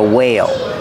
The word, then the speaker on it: whale: This is a whale. Pronunciation, use a long A like say and pay.